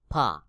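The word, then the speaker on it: فاء: এরপর রয়েছে ফা। নিচের ঠোঁটের পেট সামনের উপরের দুই দাঁতের আগার সঙ্গে লাগাইয়া, নিচের ঠোঁটের পেট সামনের উপরের দুই দাঁতের আগার সঙ্গে লাগাইয়া ফা উচ্চারণ হবে, যেমন ফা ফা ফা।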